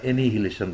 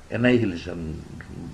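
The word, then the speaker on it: annihilation: কী বিনয়ের সঙ্গে বলেছেন এই শব্দটায় আপনারা এনিহিলেশন বলেন, এটা অ্যানিহিলেশন যেন আমার মনে হয়, অত্যন্ত বিনয়ের সাথে বলেছেন আমাদের ইংলিশ সংবাদ দ্বারা পরে ওদের জন্য।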